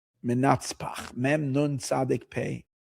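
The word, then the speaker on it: מנצפ״ך: Or Mansapach, some people. Someone was telling me I'm saying it wrong. I said, then I would say Menatzpach. He says Mansapach. Okay, let it be Mansapach. Mem, Nun, Tzadik, Pei, Chaf.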